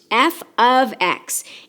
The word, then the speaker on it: f(x): even if it looks like it it is pronounced F ofx and it means that I have a function